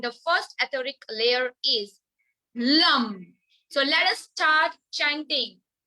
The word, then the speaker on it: Lam: root chakra and the first etheric layer is Lam. So let us start chanting. Just keep your mics mute and close your eyes. Feel you are chanting Lam, L-A-M, Lam, Bija mantra to heal first layer of